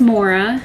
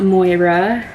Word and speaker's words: Maura: start off by saying my name is Maura it's not Moira um my parents did spell it an interesting way but when I was